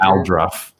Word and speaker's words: Aldruff: No, just all Al. Well, I guess Al. Yeah, is that all or Al, depending on. It's my Narga's accent. That's it. That's it. Aldruff. That's how I pronounce it.